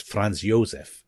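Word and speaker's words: Franz Josef: Um so they've been Germany very you know it hasn't gone well Fran I should say in German it's France Yosef he um he has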